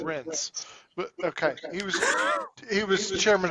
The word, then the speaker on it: Reince: You said Rance. You said. Mhm. I said it correctly. I said it right. I said it Rince.